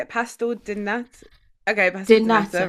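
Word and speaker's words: pastel de nata: Pastel di nata.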